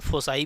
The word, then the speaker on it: foci: दोनों इसका प्रोनाउंसिएशन है, फोसाई बोल सकते हो।